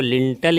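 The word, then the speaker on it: lintel: है कुछ दिन में, तो वो लिंटर नहीं होता है, वो लिंटल ही होता है। ठीक है, ये प्रोनाउंसिएशन एग्जैक्ट है, लिंटल।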